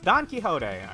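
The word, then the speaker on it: Don Quixote: Don Kiote. It's Don Kiote. All right. It's how you pronounce that.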